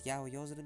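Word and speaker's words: 八百万: What does yaoyozuru mean again? What's that? Yaoyo. It's written as 8 million. Oh, yeah, there you go. And pronounced yaoyozuru.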